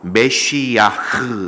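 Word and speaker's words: משיח: 번역을 하면서 표현한 단어입니다 구약에서는 히브리어로 매쉬 약 이렇게 발음을 하고 신약의 헬라어로 와서는 크리스토스 이렇게 어 말을 합니다 그리고 영어로는 크라이스트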